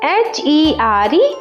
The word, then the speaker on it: here: The first e says e and the last e is silent. Okay. Let's see the examples of this. Like h e r e here means this place here.